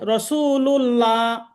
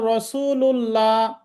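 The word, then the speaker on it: رَسُولُ اللَّهِ: রসুল রাসূলুল্লাহ। আচ্ছা, আমি যদি এভাবে বলি রসুল্লাহ, ভুল না ঠিক হলো? ভুল। ভুল ভুল হলো। আচ্ছা, অনেকে দেখবেন যে আজান দিচ্ছে আশহাদু আন্না মুহাম্মাদার রসুলুল্লাহ অথবা রাসূলুল্লাহ বলছে, তাহলে এটা ভুল না ঠিক হবে?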